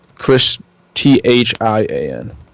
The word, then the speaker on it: Christhian: Chris, Thian.